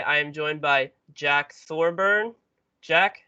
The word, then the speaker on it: Thorburn: get that right um for some reason an n an n creeps in all the times there's always thorn burn there's like a silent